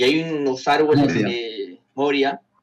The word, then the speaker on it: Moria: Y hay unos árboles, Moria, me olvidaba cómo se pronunciaba, porque es un crimen pronunciar mal ese nombre. Y ¿Moria? están unos, sí, porque unos decían Moría, no sé cómo le decíamos. ¿Qué? ¿Quién dice Moría? No, jamás escuché que dijera Moría.